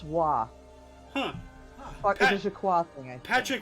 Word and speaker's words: Roy: name is spelled r o y what yep Roy it's actually but it's pronounced W huh AA thing Patrick W so yeah but spelled Ro oi I'll be